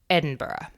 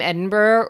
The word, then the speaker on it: Edinburgh: all my American friends it looks like Edinburgh it is most assuredly not so don't pronounce it that way I will some actually